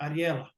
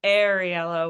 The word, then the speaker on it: Ariella: yeah I it's great a lot of people uh say arel which is not correct but you nailed it